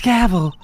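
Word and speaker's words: Gavèl: It is Gavel. The accent is silent.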